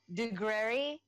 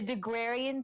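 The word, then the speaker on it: Daguerre: You had Deguerre, is that how you pronounce his name?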